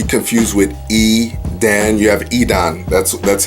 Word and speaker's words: Edan: You have Edan. That's how his name is pronounced.